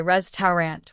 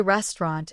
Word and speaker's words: restaurant: Many learners say res tarant with three syllables, but we usually say restaurant in American English.